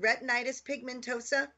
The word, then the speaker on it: retinitis pigmentosa: be here I'm so glad so did I pronounce the is it is it retinitis pigmentosa you did you did you're practically a doctor